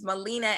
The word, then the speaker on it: Melina: I heard you put the D in there, so I just want to give you that pronunciation. It's Melina Abdullah.